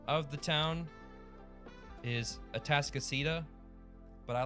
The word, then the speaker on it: Atascocita: And I know the actual pronunciation of the town is Atascocita, but I like calling it Atascocita just to be annoying.